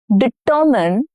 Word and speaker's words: determine: Now hint, stress is on the second syllable. You must determine the winner carefully.